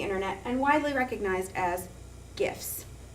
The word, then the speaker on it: GIF: and widely recognized as gifts the debate is between the HAR G soft G pronunciation Jif or gif all of this started